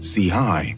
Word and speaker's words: Chii: an LA neighborhood while C hii pronounced CI signified his affiliation with